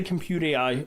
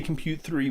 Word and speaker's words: Comput3: I mean I'm going to say compute AI. I mean uh we we haven't we haven't made an executive decision on the on the pronunciation. So if you say compute 3, we're not going to fault you.